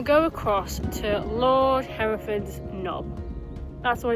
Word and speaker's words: Knob: across to Lord Hereford's Knob. That's what it's called. I'm not going to say that again, I'm just going to call it Lord Hereford's. But it's spelled K-N-O-B, so it's like doorknob.